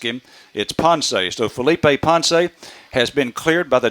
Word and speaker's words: Ponce: Felipe's family because all of last year I pronounced his name the way it would appear to me pots but Felipe himself told me several times when I asked him it sponsees though Felipe ponse has been cleared by the doctor according to